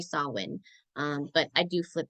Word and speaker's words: Samhain: a couple times so if you hear me say sam Haan is a neopaganism translation some people do call it that but it is traditionally sawin um but I do